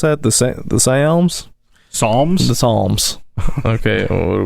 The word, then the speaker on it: Psalms: This is how do you pronounce that? The Psalms. Psalms.